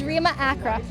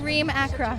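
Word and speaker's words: Reem Acra: It's Remma Acra.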